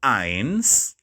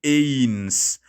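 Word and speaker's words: eins: then i have one one in german is ions don't say ins there's another video here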